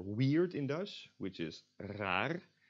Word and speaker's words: raar: in Dutch, which is raar, spelled R-A-A-R. And most Dutch speakers, me included, would not pronounce the last R as the front or the back R, but as the English R.